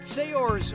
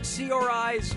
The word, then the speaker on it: Saoirse: yeah sure you do how do you pronounce her name Saoirse Ronan Saoirse Ronan say yours Ronan or see our eyes Ronan okay what'd you